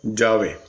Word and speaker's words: Yahvé: Los eruditos han llegado al acuerdo general de que la pronunciación original debe haber sido Yahvé.